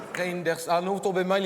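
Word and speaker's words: Reynders: Non, M. Didier Reinders. Ça se prononce comme ça s'écrit. Reinders.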